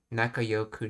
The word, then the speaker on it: 仲良く: Okay, it sounds like he's saying Yoku, so we'll go with that pronunciation. Nakayoku na or Nakayoi.